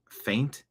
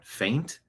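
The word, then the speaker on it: feint: threw a f pronunciation faint. The boxer threw a faint with his left hand to open up his opponent's guard. Sounds exactly like faint.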